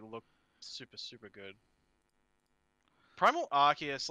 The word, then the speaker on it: Arceus: know of is uh arceus arceus you know all that yeah some people say archies and i'm like no oh that is just wrong in so many levels abby